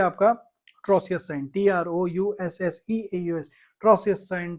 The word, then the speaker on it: Trousseau: Next है आपका ट्रोसियस sign, TROUSSEAUS, ट्रोसियस sign, ट्राउजियस sign, जो आपको प्रोनाउंस करना है, स्पेलिंग मैंने बता दी।